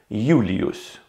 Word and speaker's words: Julius: For example, in Latin, Julius Caesar's name was written as Julius, and pronounced as I am pronouncing it now, Julius.